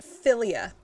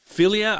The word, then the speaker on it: philia: Philia is another type of love. What do you think philia would mean? I had an aunt named Ophelia. Philia, I don't know, like affiliate.